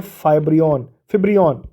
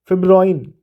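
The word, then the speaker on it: fibroin: ठीक, नेक्स्ट देखते हैं which of the following substance is not synthetic, तो ये है फिब्रियन, ठीक है, फिब्रोइन, ठीक है ना, माफ़ कीजिए गलत प्रोनाउंस हो गया, फिब्रोइन है ये।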